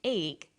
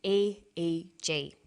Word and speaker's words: EEG: he says an 8g that's an abbreviation we don't pronounce it eek we say a ji-ae G stands for electroencephalograph